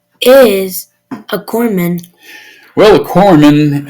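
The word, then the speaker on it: corpsman: PS M A N A lot of people say corpse man and that's incorrect because it signifies a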